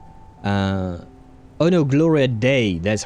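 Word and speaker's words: Gloria Dea: Uh, Gloria Metner, better known by her stage name of Gloria D. Uh, oh no. Gloria Day, that's how you pronounce it.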